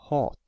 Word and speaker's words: hat: The first word hat has only one T after the A, so A is pronounced as the long vowel, hat.